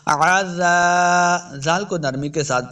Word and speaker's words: عذاب: من عذاب، من عذاب، عین کو تلفظ کے ساتھ پڑھنا ہے، بعض لوگ پڑھتے ہیں آزا کریں گے تو یہ حمزہ کی آواز ہے، حمزہ نہیں بلکہ عین کا تلفظ ہم نے پڑھنا ہے، عزا، زال کو نرمی